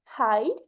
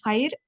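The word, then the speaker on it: հայր: As for father, it's Haid, you pronounced it perfectly, or Haidik.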